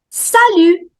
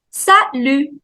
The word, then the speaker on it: Salut: Salut. Salut. Salut. T is silent. Salut.